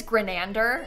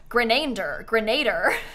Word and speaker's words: Grenander: His name is Grenander, spelled like exactly how it says. But people will like, when they try and say it out loud, they'll be like, Grenader.